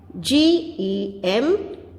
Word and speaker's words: gem: Gem.